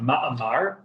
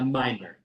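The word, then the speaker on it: מאמר: A ma'amar, but with the Chabad Yiddish style pronunciation, we say a mimer.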